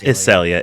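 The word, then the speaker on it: Isellia: a it's a it's iselia it's i s e l l i a so it sounds like the flower but not spelled like it okay was she close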